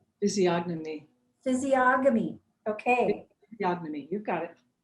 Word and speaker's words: physiognomy: Physiognomy.